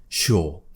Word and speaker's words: sure: I want you to think about the word sure that's how I say it sure and lots of students are quite shocked when they hear me say it like this but in fact this is how most natives in the whole country pronounce it sure we don't say sure now people do